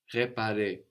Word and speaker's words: réparer: le, just an E, where the E of réserver, réparer, is written with a little accent over it, a little dash going up from the E, which lets you know to pronounce a stronger E, réserver, réparer.